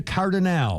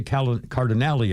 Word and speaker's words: Cardinale: Claudia Cardinale, or Claudia Cardinale, I've heard it pronounced both ways.